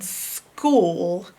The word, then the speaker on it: school: But in this case, the CH is making the k sound, which is the part you got to learn by heart. That the CH in school is the k sound, not CK. You'd think it's CK, but it's not.